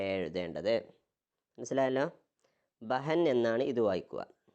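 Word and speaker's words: بہن: ബഹൻ എന്നാണ് ഇത് വായിക്കുക. ഈ കൊളുത്തുള്ളതുകൊണ്ട് നമ്മൾ നേരത്തെ പറഞ്ഞു ഹ എന്ന ഉച്ചാരണം അവിടെ വരും, അല്ലെങ്കിൽ ഹി എന്ന ഉച്ചാരണമൊക്കെ ആയിട്ട് വരും. ഹ എന്ന ശബ്ദം ഉണ്ടാവും.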